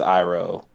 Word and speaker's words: Iroh: That's what happened with Iroh. Chantal was like, but it's Iro. And then he's like, yeah, you're right.